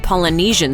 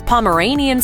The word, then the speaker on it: Polynesian: the different ways the adoring public butchers the pronunciation of Polynesian sauce. Some of the more interesting interpretations of the name include things like playground sauce, Himalayan sauce, Pomeranian sauce, Polyasian sauce, and the Asian joint.